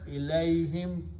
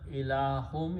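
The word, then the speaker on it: إليهم: Ilayhim, towards them, towards my progeny. Ila means to, and hum means progeny. And when you pronounce, instead of ilahum, you pronounce ilahim, ilayhim, towards these people.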